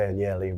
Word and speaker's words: Agnelli: It's Agnelli. Well, a good Italian would say Agnelli, but it's been Americanized.